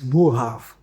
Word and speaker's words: Boerhaave: Okay, so first thing, the correct pronunciation is Borrhaave.